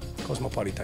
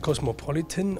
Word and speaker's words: Cosmopolita: Betonung auf dem A hin? Ja, Cosmopolita, italienisch, nicht Cosmopolitan oder Cosmopolitan, ja, sondern Cosmopolita.